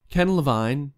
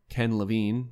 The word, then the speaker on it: Ken Levine: afford thanks thank you ken levine or ken levine i'm going to use both of those pronunciations interchangeably just get used to it the former creative